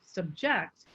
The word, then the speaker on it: subject: where's if you say the word subject if you put the high tone on sub then that's a noun however if we say that very same word with a high tone on the second syllable subject that is a verb so there are many